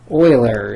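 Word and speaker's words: Euler: we're going to call e e stands for Oiler constant Oiler is spelled e l eer Oiler you don't need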